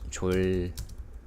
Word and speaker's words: 졸: J sound as a consonant, j, with the vowel o, 조, and then with the 받침, 릴, R or L, L, 졸.